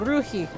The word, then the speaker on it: ruhig: In German, it was Ruhig or Ruhig. Not exactly that pronounced that way. It was like you kind of a little bit on the H, even without a CH there. It was like Ruhig.